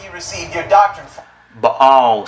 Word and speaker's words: Baal: Baal, sir, not Baal. There's no Y sound.